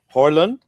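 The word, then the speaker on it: Haaland: There's a couple of say Holland, but that's because it's double A and double A in Norwegian is pronounced O.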